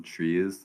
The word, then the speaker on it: trie: to be talking about tries um some people might call them trees like technically that's a great pronunciation for them but i'm going to call them tries today because it's just